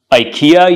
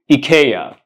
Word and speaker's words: IKEA: furniture that it's selling do not say I'm going to Ikea you should say I'm going to Ika Ikea and what about